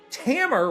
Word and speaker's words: Tamer: Tales of Link, Talica, Tamer rhymes with hammer.